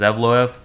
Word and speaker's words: Evloev: Arnold Allen versus Evloev.